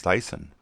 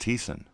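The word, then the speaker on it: Thyssen: we saw Fritz teason who I thought was pronounced Fritz Dyson but it's pronounced Thiessen and he was a major financer of Hitler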